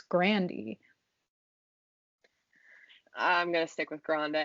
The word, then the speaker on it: Grande: revealed it in 2018 she was explaining the right way to say her last name and she said it's grandy i'm gonna stick with